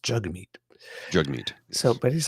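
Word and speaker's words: Jagmeet: often because I'm reading from notes but it's pronounced jug meat jug meat so but he's like he said like he actually said Jack meat which sounds like a lot like Jack meat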